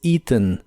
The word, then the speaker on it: eaten: español en inglés es eaten se pronuncia con un sonido I largo al principio la a no se pronuncia y la e del final es muy suave eaten eaten a ve